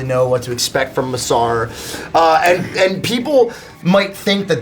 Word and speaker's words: Masarer: That's spelled Masarer. Masarer.